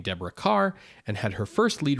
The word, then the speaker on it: Kerr: The studio promotion for her was Deborah Kerr rhymes with star.